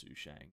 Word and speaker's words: Sushang: sushiang did Wheel oh we all know it's who Shang uh Great Character and